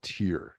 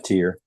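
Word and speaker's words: Tyr: release a Rec record called tier t R I believe that's how it's pronounced yeah tier yeah once again Tony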